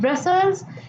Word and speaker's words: Brussels: Now make a mark that Brussels is the capital of this country. So here adds up a big thing to your knowledge that Brussels, this pronunciations goes like Brussels.